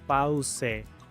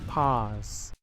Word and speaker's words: pause: Muchos pronuncian esta palabra pause. La u es muda. La e al final también es muda. Paz.